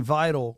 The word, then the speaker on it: Vidal: He's saying Vidal rhymes with Lidl.